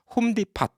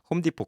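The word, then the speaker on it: Home Depot: 홈디팟 이렇게 얘기하시는 분도 있어요. 홈디포 그것도 T 발음 안 하죠.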